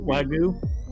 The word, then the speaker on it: Wagyu: How do you pronounce the steak that starts with a W? I think it's Japanese. Wagyu.